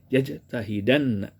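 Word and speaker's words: يجتهدنّ: Nah, ketika yajtahidu bersama dengan nun taukid, sakilah nun taukid yang ditasdid dan dipathah, maka berubah domah pada dal menjadi fathah. Maka bacanya jadi yajtahidan.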